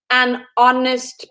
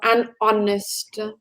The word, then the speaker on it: honest: vowel sound for example an honest person honest would start with an H but the pronunciation or the sound sounds like an O so an honest right yeah good after